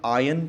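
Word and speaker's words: iron: Michael knobs याद रखिएगा आयरन पढेंगे उसे आर साइलेंट है प्लीज डायन माइकल नोब्स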